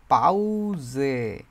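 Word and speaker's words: Pause: এটারে ইংরেজিতে বলে হচ্ছে পজ। কিন্তু জার্মান উচ্চারণ হিসেবে এটা আসে পাউজে। জকার। পাউজে পাউজে দি পাউজে এটা মানে হচ্ছে বিরতি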